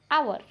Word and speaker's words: hour: So you have to mainly think about this, that in the word hour, H is silent. So we have to be pronounced as hour, ow, O sound, that is a vowel sound.